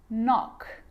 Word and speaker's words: knock: A K is not pronounced when it comes before an N, like knife, no, knee, knock, not, knowledge.